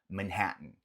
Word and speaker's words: Manhattan: E falamos, nota que esse dois T's, ele comumente ele não é pronunciado de uma forma tão marcada. Não é que a gente fala Manhattan. Normalmente o T ele vem aqui de uma forma mais gutural, aqui na garganta mesmo. Manhattan, Manhattan, Manhattan.